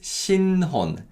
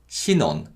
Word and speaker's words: 신혼: The word for newlyweds is 신혼, 신혼. Again, the ni은 받침 carries over. 신혼, 신혼.